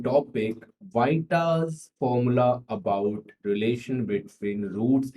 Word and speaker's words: Vieta: तो बच्चों इस फॉर्मूले का नाम है वाइटास फॉर्मूला, और कुछ लोग इसको वीटा भी कह देते हैं, लेकिन उसकी जो रियल प्रोनाउंसिएशन होगी वो होगी वाइटा।